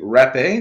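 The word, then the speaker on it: Rapé: of tobacco this is the wrap a that tobacco it's spelled like rape but with the little accent sign but I don't have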